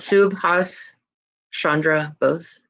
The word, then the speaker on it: Subhas Chandra Bose: Does anyone know how to pronounce this name? Subhas Subhas, is that what it is? Chandra Bose. Or Bose? Bose, sorry. Yeah, Okay. Subhas Chandra Bose.